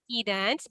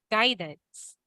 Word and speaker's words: guidance: other one is uh not key dance but we say guidance Guidance with promise guide